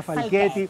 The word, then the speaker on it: Falchetti: Se escribe Falchetti, pero se pronuncia Falchetti.